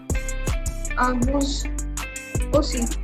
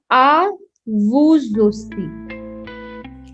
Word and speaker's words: à vous aussi: Okay, it is à vous aussi. À vous aussi. Why are we pronouncing the S in the vous? Because A is a vowel, and that's why it's a liaison.